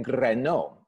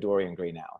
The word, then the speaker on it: Greenow: My name is Dorian Greno. Now, that's a very hard way to say it in Welsh, because Greno, you have roll your R's a little bit there. But most people go with Dorian Greenow is the best way to kind of like do it.